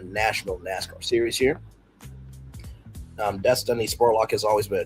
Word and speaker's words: Dystany: Um Destiny Spurlock has always been a trailblazer from playing football with boys at Highland Springs to race motorcycles right out of school. Spurlock whose first name is pronounced destiny.